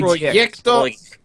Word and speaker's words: Projekt: Oh, Projekt. Projekt. My bad. Oh, wow, you guys are being so racist. That's Polish pronunciation.